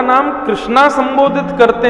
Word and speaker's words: कृष्ण: जो लोग भगवान का नाम कृष्णा संबोधित करते हैं, वो एक प्रकार से द्रौपदी को पुकार रहे हैं। भगवान का नाम कृष्णा नहीं है। भगवान का नाम कृष्ण है।